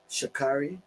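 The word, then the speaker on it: Sha'Carri: Um, in heat three we had, as she says, her name is pronounced as Shakari Shakari Richardson 11:03, Sherekica Jackson 11:04 and Tori Lewis 1108.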